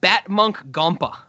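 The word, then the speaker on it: Batmunkh Gompa: It's Batmonk Gompa.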